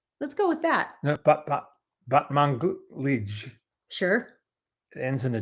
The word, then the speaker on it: Batmanglij: No, Batmanglij.